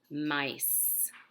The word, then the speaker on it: mice: Now that's a tricky one because the S is not an S. M-I-S. Mice.